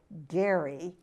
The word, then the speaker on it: Gerry: audience that it was named for the then governor Gary GE rry and later was mispronounced but you see that